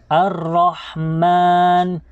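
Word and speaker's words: الرحمن: hindi tayo po nagkakamali, ang ra ay kabilang po siya sa mga letrang Ash-Shamsiyah. Mga letrang Ash-Shamsiyah na kung kaya ay ipapasok po natin kaagad ang ra.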